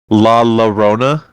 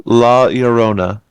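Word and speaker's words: La Llorona: sure because I think a lot of people say laona, but that's not how you say it. It was two L's make like a Y sound. Yes. And you have to roll your R, too.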